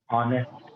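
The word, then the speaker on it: honest: ऑनेस्ट, एक silent होता है, ऑनेस्ट मीन्स एक ऑनेस्ट।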